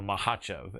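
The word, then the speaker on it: Makhachev: Um what would you say to the people that feel that if if that happens, Islam Mahachev? Makachev or Mahacheev as as his teammate Daniel Cormier pronounced it.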